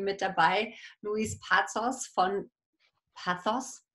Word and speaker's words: Pazos: Und dann, wie immer, auch wunderbarerweise im Finanztalk-Team mit dabei, Luis Pazos von Pazos. Es wird natürlich Spanisch ausgesprochen, Entschuldigung, von Nur Bares ist